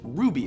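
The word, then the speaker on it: RWBY: is the enemy styled our wby or Ruby as its pronounced which is produced by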